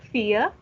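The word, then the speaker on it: vier: Not Frau, fear.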